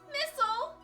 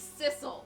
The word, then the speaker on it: Sissel: Missile? Missile? I'm sorry, I'm not Missile. My name's Sissel. It rhymes, though.